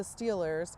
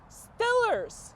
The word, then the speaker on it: Steelers: our football team is the Steelers as we know but that's not how most people say the Steelers instead they say Stillers the Stillers Steelers won